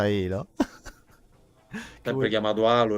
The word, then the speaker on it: Halo: Perché tutti lo chiamano Halo, ma in realtà si pronuncia Halo.